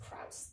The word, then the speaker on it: Krauss: physicist lawrence cross uh krause something like that it's about k-i-a-u-s-s i think it's jordan um but i don't really know how to pronounce it so it's kraus krauss thank you so lawrence krauss